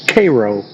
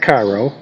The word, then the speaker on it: Cairo: Now, in the little video, they pronounced this ship that was picked up called Cairo. We call it Cairo because it's spelled like Cairo.